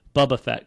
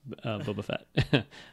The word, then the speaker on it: Boba Fett: Cartoon any day or the Bubba Fett cartoon as Bruce fanch pronounces Boba Fett I noticed too um